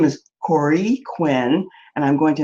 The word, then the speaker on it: Kore: I was saying Kore, it's Kore.